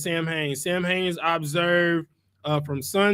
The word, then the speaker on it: Samhain: All right, so Sam Hain is pronounced Samhain.